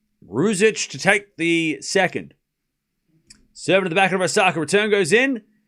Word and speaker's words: Ruzic: Can you pronounce rouge and then itch? Ruzic.